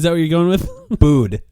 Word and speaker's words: Bud: Bood. You got to pronounce the D. Bood.